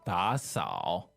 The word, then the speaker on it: 打扫: The verb is 打扫, two third tone. 打扫. And that means to clean, right? Right. Okay, so 打扫.